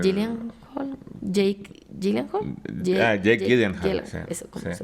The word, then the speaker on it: Gyllenhaal: Eh, Gillian Hall, Jake Gyllenhaal, Jake Gyllenhaal, sí, eso cómo sí. se pronuncia.